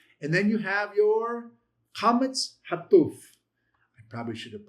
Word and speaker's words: qamats: Remember that your qamats is a long a as in father.